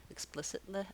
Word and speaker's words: explicitly: multiple if sounds then when i add l y to make explicitly explicitly i just add one more syllable with a light l and a tense e sound this tense e has